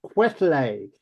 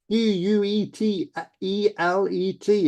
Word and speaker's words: Quetelet: He talks about Adolf Quetelet, Quetelet, if you want to spell it, l'homme moyen.